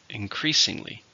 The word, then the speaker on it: increasingly: an adverb how many syllables increasingly for stress in the second increasingly the situation is becoming